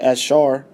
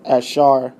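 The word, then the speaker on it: אשר: When we go to the concordance of Asher, which the Hebrew word is like Ashar. Yeah, Ashar. Strong's H. We can get it. Strong's H 836. Asher. Yeah, the Edomites pronounce it Ashar, which means right here the number one definition: happy.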